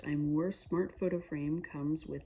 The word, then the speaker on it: Aimor: This looks like a photo frame that, yes, it's the AIMOR, I think it's pronounced Imore Smart Photo Frame comes with this.